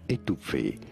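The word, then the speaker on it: étouffée: This is a word of French origin. In French, it is said as étouffé.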